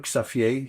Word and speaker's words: Xavier: cool guy in town Xavier his name Safier you pronounce it like that in Dutch.